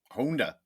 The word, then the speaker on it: Honda: off and say that we absolutely pronounce it wrong in America. It should be Honda. if you would pronounce the Japanese way instead of you.